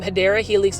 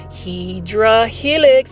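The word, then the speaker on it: Hedera helix: those that don't know I mispronounced um hyera Helix English ivy is hedra Helix because there is a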